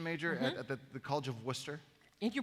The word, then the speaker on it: Worcester: So you were a music education major at the College of Worcester. And you pronounced it correctly.